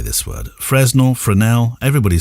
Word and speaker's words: Fresnel: Fresnel? Everybody says Fresnel. Yeah, Fresnel. I think it's Fresnel. Yeah, I hear people say Fresnel as well. I'm thinking... Yeah. I used to. Yeah, Fresnel.